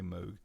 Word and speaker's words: Moog: I pronounce it Moog some people say Moog.